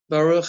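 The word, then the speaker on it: ברוך: said it nicely, which you noticed the pronunciation ba, so we've got that kamatz underneath the base, ruch, right, and that you've got that the chaf sound, baruch, which had the patach, ta, which had the kamatz.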